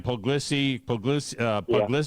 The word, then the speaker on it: Puglisi: You got to have a quarterback in every class, and this kid that they brought in, Ryan Puglisi, is that how you say his name?